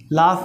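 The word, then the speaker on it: laugh: या लाभ, इसको हम लाभ पढ़ते हैं, कुछ बच्चे लाभ पढ़ते हैं, तो ये सही उच्चारण इसका है लाभ, हंसना, लाफ मिस होता है हंसना, और लाफ की सेकेंड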